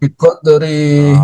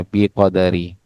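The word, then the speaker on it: بقدر: Biqodari. Jangan biqodari, tapi yang benar itu adalah sukun, Pak. Ya. Biqad. Apa yang tadi bacanya? Biqodri.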